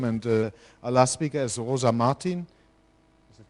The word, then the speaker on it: Rosa Martin: Now we go up to a peer-to-peer system, and our last speaker is Rosa Martin. Is it correctly pronounced?